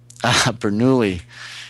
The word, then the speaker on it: Bernoulli: You have to correct my pronunciation. The Bernoulli principle. Bernoulli.